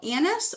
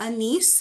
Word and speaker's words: anise: It's called anise or anise. I hear it pronounced both ways.